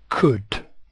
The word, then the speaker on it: could: able to swim now the L in could is silent so it could be written like this c u d and usually OU makes the sound ow here it makes the sound o o it is the past